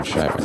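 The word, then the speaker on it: Chiraq: It's literally called Chirac, like Iraq in the Middle East.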